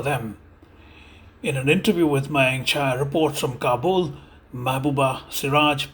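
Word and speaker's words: Mayank Chhaya: Okay, no, it's Mayank Chaya. Mayank Chaya. Very good. Mayank Chaya.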